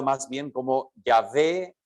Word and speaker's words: Yahvé: que nosotros tenemos en nuestra Biblia representado por Jehová sabemos que históricamente esa pronunciación no es la pronunciación y sin embargo